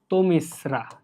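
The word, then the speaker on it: তমিস্রা: সম্ভবত একটা আসছিল এই তুমিসরা 21 22 সেশনে প্রশ্নটা খুব সম্ভবত আসছিল অর্থাৎ আমার বছরে আর তো তমিশ্রার উচ্চারণ হচ্ছে এরকম তো মিস্রা বুঝতে পারছো এই জিনিসটা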